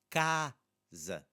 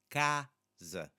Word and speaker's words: casa: But that first A sounds very different than the second A. So casa, casa. Now that first A is our open, stressed, open A. Stressed because it's in the second to last syllable.